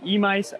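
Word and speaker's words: Emeis: So we made it to Emice Golf Course. And yes, that's what people tell me it's pronounced like.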